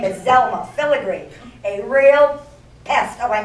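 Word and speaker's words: Pfilligree: The P is silent, like it is in pneumonia.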